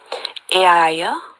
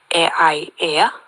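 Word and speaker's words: Aeaea: in the island of, now it can be pronounced in a few ways, Aiaia or Aiaia. It just depends how it's pronounced, but it's A-E-A-E-A.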